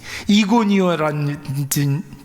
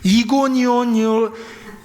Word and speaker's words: 이고니온: 이럴 테면 사도 바울이 다니면서 전도했던 비슷아 안디옥이라든지 이고니오라진 이렇게 발음이 안 되죠. 이고니온이 이고니온이라든지 루스트라라든지 그리고 더베라든지 뭐 이런 지역에 있는 교회에게 쓴 편지입니다.